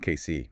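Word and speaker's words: Cayce: Casey, pronounced KC.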